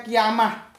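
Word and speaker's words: qiyamah: ini sebetulnya kan gini seharusnya bacanya kiamah sa'ah seharusnya begitu Jadi sahadat itu itu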